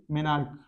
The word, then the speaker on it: menarche: देख लीजिएगा spelling, मेनार्क।